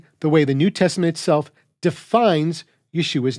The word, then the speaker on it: Yeshua: of yehoshua up with Yeshua then we can easily see what would be removed to complete the contraction by taking out the syllable ho and Contracting what's left we get Yeshua yud Sheen VAV aim